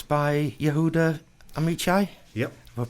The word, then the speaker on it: Yehuda Amichai: It's by Yehuda Amichai. Yep. Have I pronounced that right? Yeah, Amichai, yes. Yehuda Amichai.